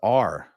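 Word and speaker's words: å: Last Norwegian letters pronounced like awe in Paul. Awe. But your other friend said it's pronounced R.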